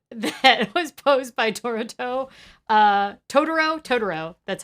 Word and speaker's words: Totoro: Totoro, that's how you say it.